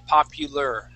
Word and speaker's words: popular: this word okay so instead of saying popular and pronouncing that a here we're actually going to pronounce that like an eer and say popular popular popular popular okay